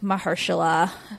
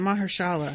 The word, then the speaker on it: Mahershala: viggo and i like mahershala but not enough is that how you say his name i always say it mahershala it's mahersha yeah okay and i only